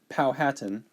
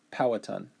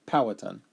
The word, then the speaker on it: Powhatan: So, I said Powhatan, right? But it's pronounced Powhatan. So, forgive me for that. Powhatan.